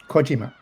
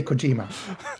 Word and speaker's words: Kojima: I guess I'm trying to detect like not apply to Okay, say say it the correct way. Kojima. Kojima. I think I'm stressing the G.